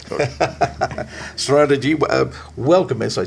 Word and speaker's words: Shraddhamrita: It is Shraddha plus, it's a compound word in Sanskrit, Shraddha plus Amrita.